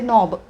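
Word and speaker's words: knob: फक्त परत रिपीट करते नॉब या शब्दाची के एन ओ W spelling A के चा उच्चार आपण करत नाही आणि म्हणून त्या के ला म्हणतात सायलेंट लेटर लेटर म्हणजे अक्षर ज्या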